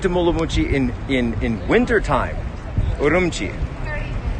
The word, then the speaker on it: Urumqi: Urumqi. Urumqi is how it's pronounced locally.